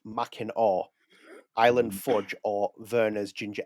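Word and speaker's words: Mackinac: So, it's machin that is written pronounced it's Yeah, it's pronounced machin island fudge or verer's ginger ale.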